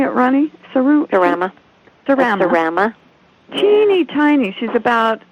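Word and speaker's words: Serama: And I've got one that's a Surma. How do you say it, Ronnie? Surama.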